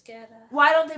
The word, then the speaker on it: Guetta: They don't pronounce the U unless it has the accent over it.